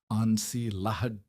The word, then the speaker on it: ensilage: He pronounced it with the French vowels, ensilage, and the word sounded,